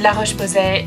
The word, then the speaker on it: La Roche-Posay: pronounce this brand, but I feel like a bit of an idiot if I say it in English, but I hope I don't sound like too much of an idiot if I'm pronouncing it in French.